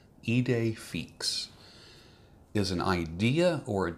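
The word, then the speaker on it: idée fixe: and then fix it's F I XE but pronounced fix heed a fix is an idea or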